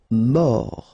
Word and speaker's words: mort: Mort, final T not pronounced, O-R, or, mort.